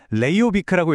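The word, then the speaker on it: REYOBIQ: 레이오비크라고 읽고요.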